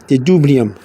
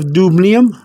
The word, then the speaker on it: dubnium: But in this case, we don't have to do that, because all we're trying to do is trying to remember the dubnium.